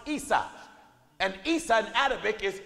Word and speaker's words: Isa: In Arabic, Jacob's brothers Esau is pronounced Isa.